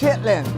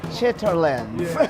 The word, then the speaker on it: chitterlings: Now, if you looked at it written on paper, it might look like chitterlings, but I believe that's not how it's pronounced. Chitlin.